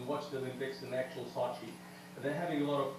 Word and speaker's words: Sochi: So you pronounced it Sochi. Sochi is the actual way it's supposed to be pronounced, yeah. Okay, we're doing it wrong here in America already. We're saying Sochi.